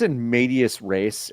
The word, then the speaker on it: in medias res: It's in medias res. It's no in medias way. res. The S is silent.